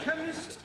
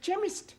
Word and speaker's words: chemist: me k e n chemist does not begin with a k it sounds like it begins with k CH H but that is making it chemist no the CH is